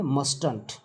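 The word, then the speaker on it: mustn't: अगर मस्ट नॉट को हम एक साथ लिखना चाहते हैं तो हम उसका क्या उच्चारण करेंगे, मस्टंट। ठीक है, अब समझिए एग्जाम्पल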